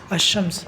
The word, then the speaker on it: الشمس: الضحیٰ، الشمس ہو جائے گا۔ الشمس مطلب الشمس، الشمس، الشمس۔ دیکھیے یہاں پہ لام آیا اور لام کا تلفظ نہیں ہوا، لام کا تلفظ نہیں ہوا، تو یہ شمس ہو گیا۔ الضحیٰ، الضحیٰ، یہاں پہ